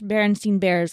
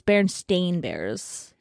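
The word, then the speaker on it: Berenstain: I used to watch barenstein Bears all the time on TV and I even say barenstein Bears well apparently spelled with an A and not an e so it's Baron stain bears oh I never watched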